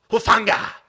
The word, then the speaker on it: Hufanga: Omenahu, Hufanga.